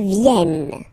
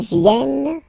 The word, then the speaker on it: viennent: Elles viennent. Ils viennent. Elles viennent. All right? E and T. You don't pronounce them.